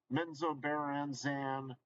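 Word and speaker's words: Menzoberranzan: ravenloth game but then they did men's Obama menzobaranzan that's how you pronounce it and uh then they did Dark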